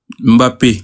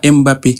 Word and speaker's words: Mbappé: Tu regardes Mbappé, on dit Mbappé, on dit pas Mbappé. Et pourtant, on dit Mbappé. Parce que Mbappé, Mbappé c'est un nom euh camerounais, on est d'accord. Exactement. C'est un nom camerounais. Tu le dis de la manière camerounais.